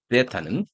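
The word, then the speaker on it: theta: 자, 일반 코사인 띠로는 어떻게, 코사인 세타는, 데타는, 이게 우리나라 한자 세타라고 그래가지고, 데타는, 저희 그리스 발음을 들어보니까 데타 이러더라고요.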